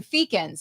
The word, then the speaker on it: Feakins: to confirm that you say your last name feakins is that right that's absolutely correct like that's